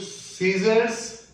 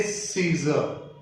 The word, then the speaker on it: scissors: And don't say Caesar. Pronunciation can remove S from person to person due to their MTI effect, mother tongue influence effect. But we never write Caesar.